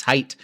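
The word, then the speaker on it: Haidt: I just pronounced uh this author's name hate. That's not his name. It's height.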